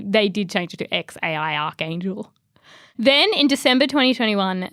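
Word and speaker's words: X Æ A-Xii: what's its name well Grimes pronounces it x a i Archangel what or X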